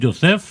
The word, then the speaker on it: Yosef: Sí, Joseph. Sí. No, pero yo lo puedo pronunciar mal, pero él no debe.